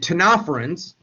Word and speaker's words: ctenophorans: Now, only cnidarians, which are jellyfish, sea anemones, and ctenophorans, the C is silent there again, which are called comb jellies, are diploblastic.